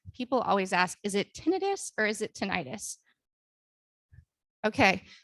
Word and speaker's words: tinnitus: correct pronunciation is actually tinnitus because itis is an inflammation and there is no inflammation that causes this ringing in your ears all right something